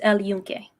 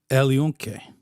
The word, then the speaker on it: El Yunque: It's El Yunque. El Yunque.